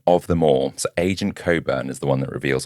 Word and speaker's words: Cockburn: But then the most shocking development of them all, so Agent Coburn is the one that reveals all this information. Can we just call him what it is? What? It's Cockburn. Definitely Coburn.